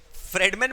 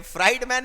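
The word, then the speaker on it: Friedman: फ्रेडमैन बोलते हैं, फ्राइड मैन नहीं।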